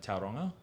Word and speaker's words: Tauranga: So we've got one more show for the tour after Auckland, and that's in, pardon me if I don't pronounce it correctly, but Tauranga.